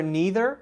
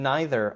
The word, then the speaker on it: neither: them okay yeah but for neither and neither I pretty much always use neither rather than neither I save right there